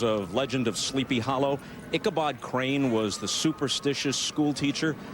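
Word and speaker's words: Icabad Crane: But even though it's got the A in there, it's pronounced Kabad Crane.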